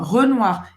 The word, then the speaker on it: Renoir: Camille Claudel, également Pissarro, Renoir, eu falei em português, Renoir. Olha a pronúncia. Renoir. Boca do O e fala E. E O em francês tem som de UA. Renoir. Renoir.